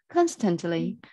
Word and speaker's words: constantly: yes perfect much better constantly the the stresses on the first syllable you know first syllable oh yeah we will